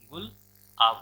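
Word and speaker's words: Gulab: अब देखिए पाकिस्तान जब देगा नाम तो वो क्या नाम देगा, गुलाब, लेकिन प्रोनाउंसिएशन क्या होगा उसका, गुल आब होगा।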